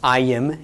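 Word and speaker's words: ַיִם: the regular plural, but it's pronounced ayim instead of im.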